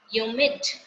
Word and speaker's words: humid: Next is ह्यूमिड. H की sound जो है हल्की सी वो क्या होती है यहाँ पे?